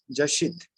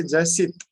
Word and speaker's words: Jashit: Jashit. Right? Yes, if I say Jasit, it's not correct.